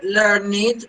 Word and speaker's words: learned: In this case, you have to pronounce the word learned because it's not the past participle of learn, it's an adjective here.